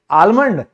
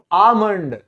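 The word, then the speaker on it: almond: सबसे पहला शब्द है ये, जिसको हम कहते हैं बादाम यानी कि आलमंड। अरे नहीं रे, यहां पे जो ये आप एल देख रहे हैं ये साइलेंट है, इसको बोला जाता है आमंड।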